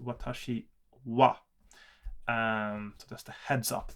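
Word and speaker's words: は: look at the transliteration, it would say watashi ha, but that is pronounced watashi wa.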